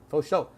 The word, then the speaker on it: for sure: For is pronounced faux, sure is show, for show, faux show.